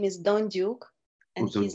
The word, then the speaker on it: Dondyuk: uh Laurel core and tonight we have Maxim donek uh he sorry sorry uh Anika you know